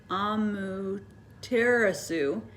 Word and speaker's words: Amaterasu: the sun goddess um amaterasu amu teresu that's how you say it hijan or cave all